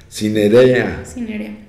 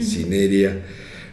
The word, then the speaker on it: cinerea: Cinerea, es con acento en la E, Cinerea.